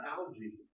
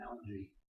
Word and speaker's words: algae: Same thing happens for alga. Alga is a singular. This is singular. You're not tested on this, by the way. And this is plural. That's alga and algae. Alga and algae. Again, why it changes from the soft G to the hard G, or vice versa, actually.